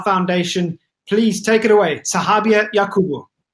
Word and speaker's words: Sahabia: Sahabia, welcome. Am I pronouncing your name correctly?